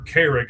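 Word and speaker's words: Carrigg: And and Craig is spelled all kinds of weird or or Carrick, I guess, is actually how you say it. C A R R I G G.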